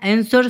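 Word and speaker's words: answer: सा अक्षर मुख है आंसर में साथियों कौन सा साइलेंट है वो आपको बताना है तो डब्लू जो है साथियों क्या है साइलेंट शब्द के अंतर्गत आता है साइलेंट अक्षर है डब्लू आपका आगे चलते हैं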